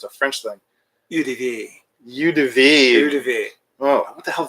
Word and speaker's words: eau de vie: Eau de vie.